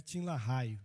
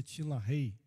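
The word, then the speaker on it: LaHaye: Eu não sei se alguém aqui já leu o livro de Tinla Rei, escreve Tinla Raio, mas pronuncia Tinla Rei.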